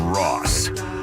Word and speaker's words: Ross: It's Ross. Spelled like sauce.